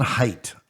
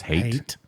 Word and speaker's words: Haidt: 2021, Jonathan Haidt. I'm saying it wrong, aren't I? No, I think it's hate.